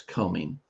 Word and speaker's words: combing: Remember the B is silent. It's combing. Lisa blank her days reading